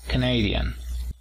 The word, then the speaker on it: Canadian: Y para decir canadiense, fíjate en el apóstrofo, está a partir de la segunda sílaba. Ahí es donde vemos de levantar la voz. Canadian.